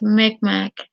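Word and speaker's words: Mi'kmaq: Pronounced Micmac.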